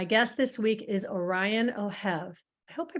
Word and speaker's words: Ohev: bashanko and my guest this week is Orion oh have I hope I pronounced your last name right I never asked